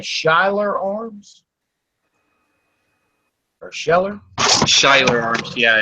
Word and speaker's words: Schuyler: Schuyler Arms, yeah, it's SHUYLER, I believe, just like that. Schuyler. Let me double check. SCHUYLER.